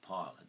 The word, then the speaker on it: pilot: or its second sound so with the pi of pilot it's the I sound not the e sound it's the second sound so there you